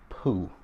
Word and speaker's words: Peau: oil line that is called poo and poo is spelled p p-e-a-u um patrick pooh you know when you say poo most people think of right